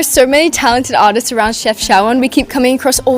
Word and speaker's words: Chefchaouen: Chefchaouen.